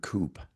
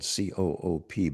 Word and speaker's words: Coop: I went into the Harvard Coop record store. It's spelled COOP, but it is not pronounced co-op.